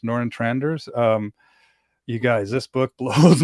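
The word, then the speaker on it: Nørretranders: It's Noran Tranders. Noran Tranders.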